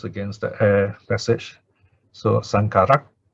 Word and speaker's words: saṅkhārā: of aggregates they call sankara kanda sankara the aggregate of the formations and normally if it's in this kind of what you call compound the last vowel is short some is added in